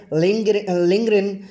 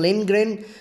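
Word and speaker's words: Lindgren: इसकी राइटर हैं Astrid लिंग्रेन, डी को साइलेंट भी कर सकते हैं और डी को ऐड करके भी बोल सकते हैं, लिंग्रेन।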